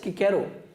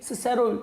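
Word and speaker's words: Cicero: क्या कहते थे कि it should be pronounced as किकेरो, और चिप्स पुराने ख्यालात का हामिल था, वो क्या कहता था कि इसे क्या कहना चाहिए, सिसेरो पढ़ना चाहिए।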